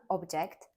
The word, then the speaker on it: object: lecture for me produce as a noun produce stressed on the first syllable this could be for example fruits and vegetables the grocery store sells fresh produce but produce as a verb stressed on the second syllable means to create a